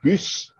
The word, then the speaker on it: Bus: You'll notice that Bus, as I should pronounce it in French, had been taken by the Germans in the early morning before there.